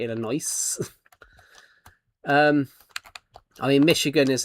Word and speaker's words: Illinois: Illinois is another one. Like uh there's an S on it, so it's actually Illinois.